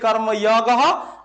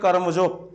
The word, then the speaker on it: কর্মযোগ: ঠিক আছে, সংস্কৃত ভাষায় উচ্চারণ করলে কর্মযোগ আর বাংলাতে উচ্চারণ করলে কর্মযোগ।